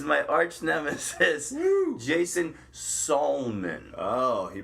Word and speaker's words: Salmon: Jason Salmon. Oh, he pronounces my name correct. Spelled like the fish salmon, but do not say that to him.